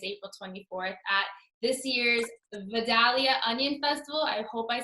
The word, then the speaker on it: Vidalia: 24th at this year's Vidalia Onion Festival. I hope I said that correctly. Vidalia. Vidalia? Vidalia. Yeah, you got to bring a southern accent. Ah, okay. Vidalia.